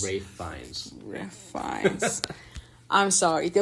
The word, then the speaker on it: Ralph Fiennes: Ralph Fiennes. Which is weird. Like it does look like it's spelled Ralph Fiennes, but it's Ralph Fiennes.